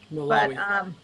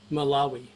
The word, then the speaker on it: Malawi: I'm not sure how to pronounce that. It is in Africa. Malawi. But, say that again, Will. Malawi.